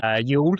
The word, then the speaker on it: Youghal: I had to correct my pronunciation of the Irish name of Youghal. Youghal.